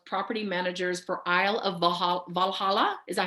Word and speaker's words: Valhalla: as well as property managers for Isle of Valhalla. Is that how I'm pronouncing it? That's right. Yeah, Valhalla.